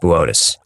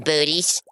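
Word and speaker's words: Boötes: It's pronounced Botus. Whatever. The Black Knight satellite is uh supposed to be from Booties.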